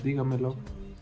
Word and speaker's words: dígamelo: Por ejemplo, dígamelo y notifíqueselo. Dígamelo con la primera signo en la I y notifíqueselo en la segunda I.